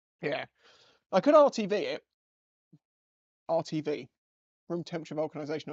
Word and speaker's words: RTV: I could RTV it RTV room temperature vulcanization I said it right way right around I always say rvt and it's not right uh I've been watching